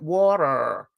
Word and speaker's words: water: It's called a flat T when Americans don't pronounce the T in. Yeah, they pronounce it as a D, don't they? Like water. But they roll the tongue, don't you? Your tongue hits the bottom of your mouth, doesn't it? When you say water.